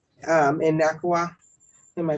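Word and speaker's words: NACUA: In NACWA? Am I pronouncing it right? NACWA, yeah, that's the National Association of College and University Attorneys.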